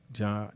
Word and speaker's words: Ja: Is that how you say his name, Nick? Ja, it's J-A. I think it's Ja.